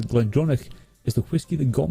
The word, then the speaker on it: GlenDronach: Daniel McAvoy says Glendronach is the whiskey that got me into.